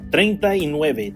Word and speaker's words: treinta y nueve: But it's pronounced treinta y nueve, 39, 39, 39.